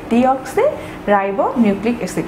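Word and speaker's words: deoxyribonucleic acid: তো এর জন্য আমাদের এটা সঠিকভাবে উচ্চারণ করতে হবে ডিঅক্সি রাইবো নিউক্লিক অ্যাসিড। আমরা যদি খুব ভুল করে এখানে ই এর জায়গায় আই দিয়ে দেই, যে ডিআইডি হয়ে যায়, তাহলেও কিন্তু এটি আমাদের খুবই ভুল হয়ে যাচ্ছে।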